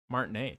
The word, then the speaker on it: Martinet: How do you pronounce his last name? Smart name. Martinet.